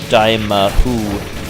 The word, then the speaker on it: Dimahoo: the day but yeah if you're wondering how it's pronounced it's pronounced dyma whoo I do not know